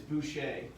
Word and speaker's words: Boucher: say your last name it's boucher like bobby boucher that's what i thought it was i just want to make sure yeah don't email bobby.